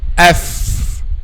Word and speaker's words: ف: F. So the edge of upper 2 front incisors touches the inner bottom lip.